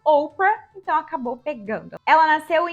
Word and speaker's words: Oprah: O nome de batismo dela era uma referência bíblica, mas quando ela era bebê, as pessoas pronunciavam o nome dela Oprah, então acabou pegando.